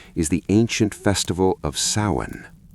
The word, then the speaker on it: Samhain: most powerful expression is the ancient festival of Samhain. Pronounced Samhain, Samhain was celebrated around November 1st.